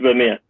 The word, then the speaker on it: Vermeer: I don't know how to pronounce the last name, but it's Johans. Is it Vermeer? Yeah. It's Vermeer.